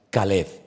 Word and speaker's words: Caleb: Eh, así que tenemos al al a todo corazón tenemos a Keleba, pero aparte de eso, esa palabra también se puede pronunciar de otra forma y se puede pronunciar Caleb.